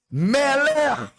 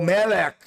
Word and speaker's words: Melech: Melech, ou Melech, você pronuncia do jeito que você achar melhor, Sefarad ou Askenaz, tem duas formas de pronúncia.